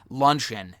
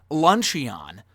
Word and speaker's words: luncheon: pronounce the word because if you read it like as it is it looks like it looks like it would say lunch Aeon but it's actually luncheon